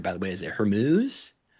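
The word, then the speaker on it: Hormuz: Is it Hermuz? Hermuz, yeah.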